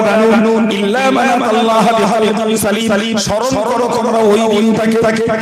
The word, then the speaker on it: সালিম: কলবে সালিম। আমাদের দেশে নাম আছে না সেলিম নাম, চল চল শুদ্ধ হলো সালিম, আমরা বাংলা সেলিম করে ফেলি। কলিমুল্লাহ যেমন কেলি হয়ে যায় ওই রকম আসল শুদ্ধ উচ্চারণ কি? সালিম।